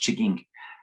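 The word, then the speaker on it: M'Chigeeng: an anishinabe community it's spelled m-c-h-i-g-e-n-g which is pronounced chigging and we went up there i went up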